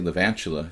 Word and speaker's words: Lavalanchula: It's too hard to say the 3-4 syllables. It's better to say Lavalanchula. It sounds like tarantula, and it's easier to say.